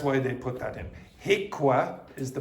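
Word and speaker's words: HIQA: HICWA is the pronunciation of that.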